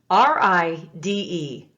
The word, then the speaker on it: ride: And even though you don't sound that silent letter, your brain automatically has mapped that pattern, hasn't it? It automatically knows you need ride. You don't want rid.